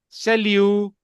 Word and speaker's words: salut: सेल्यू, टी नहीं बोलेगा, सेल्यू।